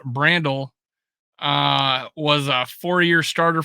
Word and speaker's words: Brandel: tackle in college uh bio Brando pronounced Brandel uh was a four-year